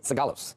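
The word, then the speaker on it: Sigalos: And Mackenzie Sagalos joins us now with more stuff to think every time.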